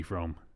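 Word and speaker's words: Fromme: Squeaky Frome, yep.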